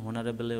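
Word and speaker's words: honourable: এখানে হনারেবলের ওপর এইচের উচ্চারণ ভাওয়ালের মতো, তাই অ্যান হয়েছে, হনারেবল ম্যান। ব্রুটাস ছিল একজন সম্মানীয় একজন ব্যক্তি।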